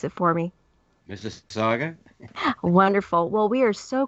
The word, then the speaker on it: Mississauga: Can you pronounce it for me? Mississauga.